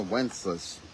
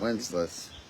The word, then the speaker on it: Wenceslas: Wenceslas. You said it right that time. Cuz it doesn't really sound the way it's written. Wincesless. Yeah, it does it's Wincesless. It's less. Wincesless.